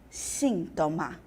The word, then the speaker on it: síntoma: identificamos como heterotônicos que no espanhol já sabemos ela vai ficar síntoma sintoma síntoma no português terapia também apareceu